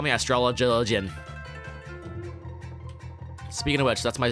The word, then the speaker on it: astrologian: you're pronouncing it wrong it's not astrology it's astrologian i'm like since when